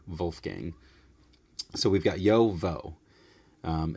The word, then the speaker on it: JoWo: waim and Wulf gang so even though it's j wo it's not Joe it's yo for yakim the yo and um in German